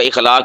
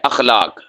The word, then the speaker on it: اخلاق: ہے یا فلاں کا اخلاق بڑا اچھا ہے، تو آپ تو کہہ رہے ہیں کہ فلاں کا بوسیدہ کپڑا بڑا اچھا ہے۔ تو صحیح کیا ہے؟ اخلاق، حمزہ کے زبر کے ساتھ اخلاق۔ اللہ نے ہمارے نبی